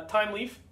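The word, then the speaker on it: Thymeleaf: my opinion time Leaf time Leaf spelled with the uh like an herb time or herb if you're French uh time Leaf I shouldn't say French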